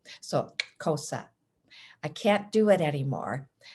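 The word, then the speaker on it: Xhosa: and cosa cultures so you heard me pronounce cosa with a click as i said the word so the x is said using the k sound along with a click and the side of your cheek and i learned this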